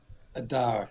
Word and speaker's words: Adar: Adar.